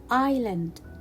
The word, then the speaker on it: island: tricky words as in the word island island so i will not pronounce letter s it will be a silent letter in this word and i'm i'll again